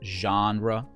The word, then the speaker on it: genre: talking with genres well be careful how you pronounce it it's a genra genres basically these are different